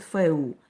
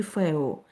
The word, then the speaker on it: фэху: В основном, например, пишут «фэху», но произносят «фэу» или «фэо».